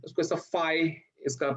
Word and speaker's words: phi: ठीक है, उसको ऐसा phi इसका pronunciation है.